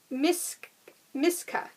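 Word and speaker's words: Misaka: the pattern that caught my eye is called miss miska and it's spelled m-i-s-a-k-a it is a six dollar pattern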